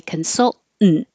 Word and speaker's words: consultant: practice the word consultant because it's a syllabic in where you go up consult for the T and instead of saying 10 consultant you just say consultant that's what it looks